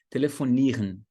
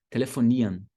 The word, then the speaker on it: telefonieren: Telefonieren, você pode fazer como eu estou falando aqui agora, mas no dia a dia, frequentemente, você vai ouvir o seguinte, telefonian, telefonian. Então, R-E-N soando como an, telefonian, telefonian.